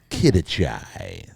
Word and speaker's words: Quidachay: Did I pronounce that right? Yeah. Quidachay. That's got a nice ring to it, doesn't it? Quidachay.